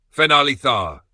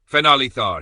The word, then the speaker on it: Fenali Thar: "Fenali Thar," came Caratel's voice from the doorway, amused. "Emphasis on the last syllable if you mean it." Raj grinned in the dark. "Fenali Thar," he repeated.